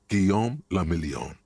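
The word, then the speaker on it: Guillaume Le Million: Guom lamelion. If it doesn't rhyme, you're not pronouncing it right.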